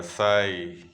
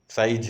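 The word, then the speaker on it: sigh: साई, याद रखिएगा, साई होता है, आदमी आ भरता है ना, दुखी होता है, सुखी होता है, तो उसके मुंह से आवाज निकलती है, उसको साई बोलते हैं। एच साइलेंट होता है, साई, ठीक है, साइज नहीं बोलते।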